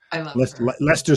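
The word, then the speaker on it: Leicester: know names in britain lester square not like esther and never say downtown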